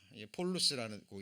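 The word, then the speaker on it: πολύς: 폴루스라고 읽어지는데요.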